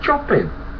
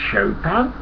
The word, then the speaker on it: Chopin: well you're right but actually pronounce chopin i was horrified i knew i was right i knew it was chopping i didn't know it pronounced chopin how embarrassing so no